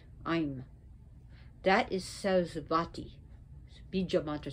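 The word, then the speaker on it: Aim: Her Bija mantra, well, is I'm. It's usually written A-I-M or E-I-M, but it's I'm. I'm is knowledge, I'm is wisdom, I'm is Sarasvati. It is a Sanskrit letter, I'm.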